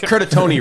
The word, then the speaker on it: Curtatone: Curtoni rhymes with phony.